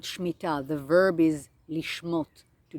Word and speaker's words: Shmita: It's called Shmita. Shmita. It is spelled S-H and then M-I-T-A, some spell it S-H-M-E-E-T-A, and it literally means to loosen the grip.